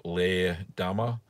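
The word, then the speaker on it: Leerdammer: So with another cheese like Leerdama or Leerdama, so I've been told to pronounce it, it needs to be able to expand because it's going to have eye formation.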